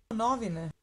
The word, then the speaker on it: novine: So this is what these sound like, high on the first syllable. Novine.